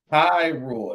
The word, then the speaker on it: Hyrule: Hyrule. That's how you pronounce it.